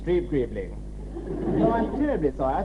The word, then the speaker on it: Streeb-Greebling: We're talking this evening to Sir Arthur Greaves-Streebling. Streeb-Greebling.